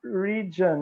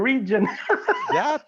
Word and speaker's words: region: there it is region now i'm thinking about pigeon to remember region pigeon region the e i figured the image of the letter in portuguese and i i want to transmit that i want to to pronounce that so yeah i have